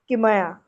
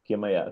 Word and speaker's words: Kimaya: Kimaya. Kimaya. All short vows.